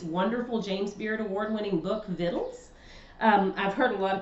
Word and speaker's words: Victuals: from Ronnie Lundy's wonderful James Beard Award-winning book, Vittles. I've heard a lot of people say victuals, like what's this called?